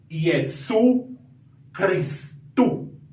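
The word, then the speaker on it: Ἰησοῦς Χριστός: Señor Jesucristo que sería y su cristu no y Cristo no sino que se va a leer este di tongo como si fuera una vocal u y es su cristu ese es uno de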